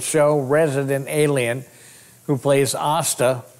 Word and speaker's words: Asta: resident alien who plays AA rhymes with pasta Sarah TOMCO she's the